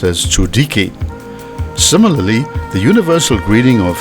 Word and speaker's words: Tsoelike: For example, Tsoelike is not pronounced with an L but with a D, so it's pronounced as Tsoelike.